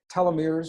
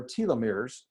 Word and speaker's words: telomeres: very familiar with this they're called telomeres or telomeres and I've heard it pronounced both ways and in a science